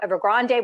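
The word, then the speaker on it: Evergrande: first time time that ever Grande was going to or ever Grand depending on how you say it the Chinese say ever grand um that that ever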